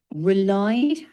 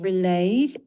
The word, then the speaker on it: relied: It's relied, not relayed, and instinct with a crisp T at the end.